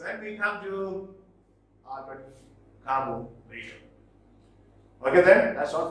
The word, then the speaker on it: Camus: from the French philosopher and novelist Albert Camus, pronounced as Camus, from his novel The Stranger, or it is known as Outsider.